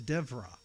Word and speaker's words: Deborah: So it's more like V, which sounds like a V. So, so Deborah is not pronounced Deborah is Devra.